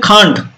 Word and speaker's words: can't: আর এর ক্যান্ট বলবে না, খান্ট, কয়ের উচ্চারণ হবে।